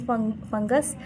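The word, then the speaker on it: fungi: उसके बाद लाइन से चैप्टर देखें, ए cellular life, prokaryotes, प्रोक्टिक्स एंड फंगस, और इसको फंजाई भी पढ़ते हैं, इसको फंगी भी पढ़ते हैं, ठीक है। फंगी इसका सही प्रोनाउंसिएशन है।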